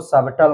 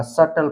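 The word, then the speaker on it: subtle: सटल में इसमें सब इसको सबटल नहीं पढ़ा जाएगा सटल पढ़ा जाएगा क्यों पढ़ा जाएगा क्योंकि टी से पहले जो बी आया है यह साइलेंट है इसका उच्चारण नहीं किया जाएगा चलिए हम नेक्स्ट देख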